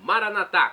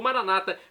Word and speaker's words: Maranata: e agora do aramaico Eu Clamo maranat como dizemos nós católicos ou Maranata como dizem nossos irmãos separados os evangélicos ou protestantes não importa pronúncia significado é o mesmo